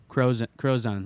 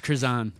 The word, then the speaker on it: Cruzan: I think it's Cruzan. Cruzan is how they pronounce it.